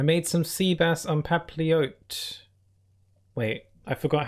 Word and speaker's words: papillote: some sea bass on papillote wait I forgot how to say it again made some sea bass some peppy oats the L silent squishma duck is gonna